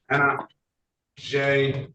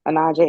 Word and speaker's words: Anaje: This is the city of Detroit versus Anna J. Alexis Gutierrez. Did I get that pronunciation correct? You were close, Your Honor. Anaje Alexis Gutierrez.